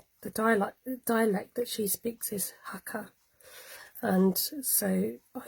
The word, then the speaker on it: Hakka: Pucker. Oh, Hakka. Beginning with a Hakka. Not pucker. Not like Jamie Oliver, no. Rhymes with pucker.